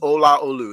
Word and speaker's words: Olaolu: He said, "Your name is Olaolu. That's how you pronounce it, every single letter, and it's not Lou.